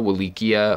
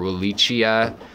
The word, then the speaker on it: Rotala willichii: a really beautiful plant it's called rotala Willy Kea or Willy Chia Willy Chi I depending on who you ask how to say it it's great for an